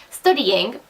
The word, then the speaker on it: Studyign: Her name is Studying, but it's STUDYIGN, Studying. It's Study IGN basically. It's spelled like backwards, kind of like muddled up a bit.